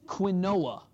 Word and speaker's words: quinoa: eat quinoa every week that's quinoa if you've ever seen the commercial it's quinoa that's the proper pronunciation I me too but